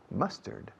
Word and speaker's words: mustard: Mustard. How do you say mustard in Spanish? Mostaza. Ah, mustard. Mustard. Must, como I must, yo debo.